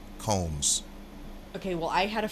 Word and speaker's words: Combs: Not Combs. Combs.